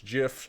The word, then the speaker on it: GIF: you can't change my mind I I say gif and I don't care if you have Neil deGrasse Tyson reach out to me and tell me it's jiff I still will pronounce a gif and that's just how it